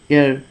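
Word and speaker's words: heir: ঠিক আছে, 23 নম্বর দেখে এবার, হি is dash এয়ার টু a vast property, এটা হেয়ার উচ্চারণ না, অ্যাকচুয়ালি এর এরকম একটা উচ্চারণ হয়,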